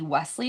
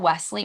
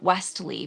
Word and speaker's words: Wesley: First of Wesley. all, there is no T in his name. And secondly, just stop saying the T.